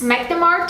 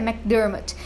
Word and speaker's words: McDermott: da casa, o James McDermott. Opa, pausa dramática para dizer que eu pronunciei o nome dele errado, e o certo é McDermott.